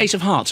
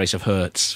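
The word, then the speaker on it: Ace of Hz: Ace of is it did you pronounce it ace of hearts or Ace of Herz hers Herz I thought so uh was on FIFA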